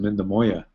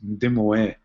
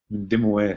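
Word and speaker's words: Mindemoya: And then the Anglicans wrote Mindamoya, so you see that Y-A at the end, and that's why people pronounce it Mindamoya. But the actual word we say, it means old lady in Ojibway, and it's Ndimoe, Ndimoe.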